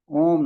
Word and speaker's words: ओम: ध्वनि की उत्पत्ति अ के रूप में होती है, उ के रूप में बनी रहती है, और म के रूप में समाप्त होती है। जब आप ओम का उच्चारण करते हैं तो इसी प्रकार से होता है, शुरुआत अ से होती है और उ के रूप में बनी रहती है, और जो म है वहां पर समाप्त होती है।